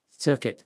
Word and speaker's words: circuit: Circuit, condit rhyme with shirk it and beyond it, but it is not hard to tell why it's pal, mal, but pell-mell.